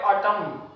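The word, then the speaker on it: autumn: जैसे कि यहां पे ऑटम ऑटम पढ़ेंगे एन साइलेंट है।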